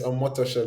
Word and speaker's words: Omotosho: I have Toyino Motosho. Yes, Omotosho. That's how it's pronounced basically.